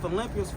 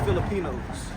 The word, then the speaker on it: Philippians: Then he said that's not Philippians, that's Filipinos. So he don't even know how to say the name of the church.